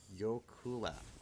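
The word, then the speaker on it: jökulhlaup: Icelandic word pronounced Yokula.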